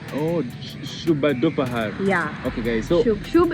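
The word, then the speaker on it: शुभ दोपहर: For good afternoon, people don't say actually, but actually for good afternoon it is like Shubh Dopahar. Oh, Shubh Dopahar.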